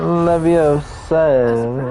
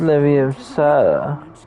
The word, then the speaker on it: Leviosa: It's not Leviosa, it's Leviosa.